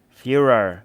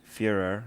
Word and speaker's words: furor: The Furor, not Führer.